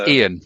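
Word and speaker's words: Iain: It's Ian. It's Ian. I-A-I-N, and it's spelled the Scottish way.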